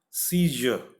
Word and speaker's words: seizure: If you touch your throat like that when you articulate this 16th one, you will feel a sort of vibration. Seizure, seizure. This sound is again not there in Hindi, so it is difficult to pronounce for us.